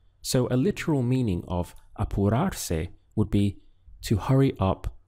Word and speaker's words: apurarse: The verb used in Spanish to hurry or to hurry up is apurarse. We have syllables of a-pu-rar-se, apurarse.